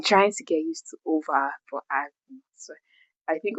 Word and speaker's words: Ove: So I call it Ove, but it turns out it's pronounced over because it's Swedish, by the way. And I've been trying to get used to over, but I've so I